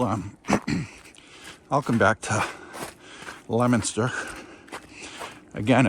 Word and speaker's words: Leominster: But I will um I'll come back to Lemonster again. It's spelled Leo Minster, but it's pronounced Lemonster.